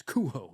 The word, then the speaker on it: Cujo: out about it, but he used to correct people back in the day, which is hilarious to think him just coked up. Yeah. No, it's cuho.